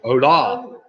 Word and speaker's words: Hola: Or Hola, even. Sorry, Hola. Spelt with an H, of course. Hola, which is hello in Spanish, of course.